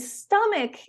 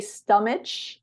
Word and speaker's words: stomach: can help yeah and stomach is one of those strange words because usually the CH makes the sh sounds it it should be stomach but it's not we